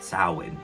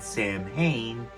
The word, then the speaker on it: Samhain: Pronounced Samhain, because if you pronounce it Samhain, you're talking about the band that Glenn Danzig went to start after he left the Misfits.